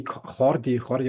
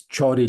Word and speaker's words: Jordi: So it's Jordi, like the English pronunciation.